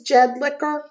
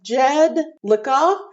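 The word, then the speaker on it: Jedlicka: seth jedlika yes yes his last name is jed liquor not earth wait not liquor seth jed lika i don't think they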